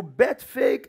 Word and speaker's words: Bethphage: And I was asking us which is the correct pronunciation. Is it Bethphage or is it Bethphage? So I went and looked at my Bible one more time. And I realized that the Greek pronunciation is actually Bethphage. But English as written, I believe, is what? Bethphage. And if you have a third pronunciation, it's acceptable.